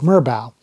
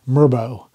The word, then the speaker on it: merbau: And the species of wood in particular that he mentioned was called merbau or merbau. How it's pronounced, I think, depends where you live in the world.